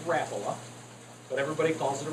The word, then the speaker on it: Rapala: we'll start there uh the actual way to pronounce this if you call the company is rapola but everybody calls it a Rapala or Rapala whatever um